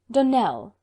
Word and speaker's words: Donnell: would set it right Donnell Accent on the last syllable and sent Claire on